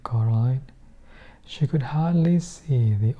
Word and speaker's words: Coraline: They kept saying Coraline, not Caroline, not Caroline at all."